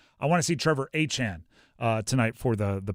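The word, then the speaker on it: Etienne: By the way, I have to say Achan.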